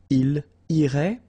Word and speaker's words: il irait: And then, il, masculine form, irait, final T not pronounced. So what you can see is that these form, and this form are actually pronounced the same way. Okay, so il irait, elle irait.